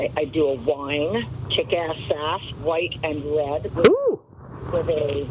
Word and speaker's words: Sass: Name rhymes, Sass rhymes with gas or ass.